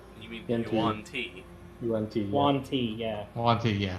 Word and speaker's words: Yuan-ti: That one race that I can never pronounce. Yen Tuai? You mean Yuan-Ti.